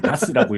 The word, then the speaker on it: DHaaS: 아직 겨울이 안 와서 다행인데 그래서 AI 비디오인데 2D 기반 DHAAS 보통 DAS라고 읽어요.